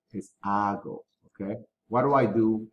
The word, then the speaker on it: hago: what do i do remember the letter h is silent so don't say hago ago okay what do i